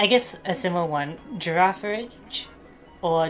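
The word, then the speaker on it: Girafarig: So, you got to pronounce the final G as a almost like a J.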